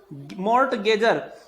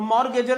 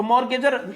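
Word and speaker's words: mortgagor: मॉर्टगेजर, यहां टी का प्रोनाउंसिएशन नहीं होगा, तो मॉर्गेजर इसको हम कहेंगे। तो मॉर्गेजर, मॉर्गेज करना मीन्स बंधक रखना, गिरवी सामान रखना कहीं पर।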